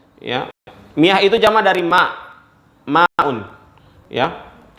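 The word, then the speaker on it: ماء: Harusnya tulisannya itu adalah bukan ma'un tapi mauhun, ya. Tetapi karena lithaqil, karena beratnya orang mengucapkan, sehingga dibaca dibaca ma'un. Tulisannya awal itu adalah mauhun, ya. Untuk mempermudah orang membacanya dibaca ma'un, ya.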